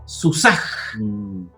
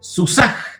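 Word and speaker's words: סוּסָהּ: Pero, ¿qué pasa si yo le coloco el punto mapik acá a la G? Entonces quedaría Susaj, el caballo de ella.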